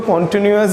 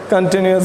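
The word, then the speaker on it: continuous: कुछ लोग इसको कॉन्टिन्यूस भी बोलते हैं, कंटिन्यूस बोलें तो ज़्यादा बेहतर होगा क्योंकि उसका प्रोनाउंसिएशन ही उसी तरीके का है, तो ऐसा नहीं बोलना है।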